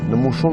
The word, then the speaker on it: Nemoshon: Nous, on l'appelle Nemoshon. Nemoshon qui veut dire grand-papa. Chaque fois qu'on le voit, on le prononce ainsi.